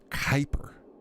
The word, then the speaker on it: Kyper: Kyper. Kyper. Man, I can't believe I've been pronouncing that so wrong so frequently.